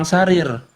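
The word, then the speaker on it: سرير: Maka yang lebih tepat ini dibacanya memang sarir.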